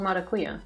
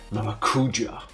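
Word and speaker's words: maracujá: I've never heard it called maracuya. How do you pronounce it then? Maracuja. Oh, I think Psycho left a letter there. I think it's a Y or a J depending on the spelling.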